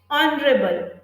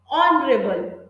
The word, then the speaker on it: honorable: So when H is silent, for example, honest, R, then we use now R.